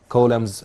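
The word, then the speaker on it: coulomb: البي سايلنت ما بننطقهاش لان ده اسم واحد اصلا اسمه كولم وسموا على اسمه the measuring unit of the electric current intensity. So we have 396 columns as we have here, dear students.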